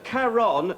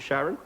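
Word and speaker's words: Charon: no that's no that's karon c h a r o n yeah although most people pronounce it Sharon which really ps's me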